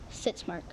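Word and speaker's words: sitzmark: to be sits mark sit Mark am I pronouncing it correctly yes sits Mark s i t z m a r k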